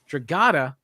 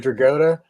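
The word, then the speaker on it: Dragotta: because i heard you talk about nick dragata instead of dragota instead of dragota i always went to dragota yeah i mean it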